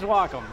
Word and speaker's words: Wacom: We've thought about actually doing some sort of social media thing about kind of making fun of how everybody pronounces the name, but it is Wacom.